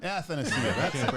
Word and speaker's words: Athanasiou: Athanasiou. I wasn't gonna try to pronounce it.